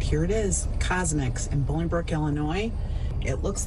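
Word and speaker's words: CosMc's: It's pronounced Cosmics.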